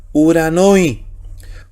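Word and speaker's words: οὐρανῷ: Y como es suave no se pronuncia, así que sigue respetando la combinación U.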